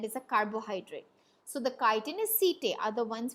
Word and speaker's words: chitin: now this word here please don't pronounce it as chai is chitin it is called as chitin and the c t